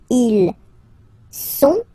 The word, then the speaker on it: sont: Ils sont, final T not pronounced, ils sont, elles sont, okay?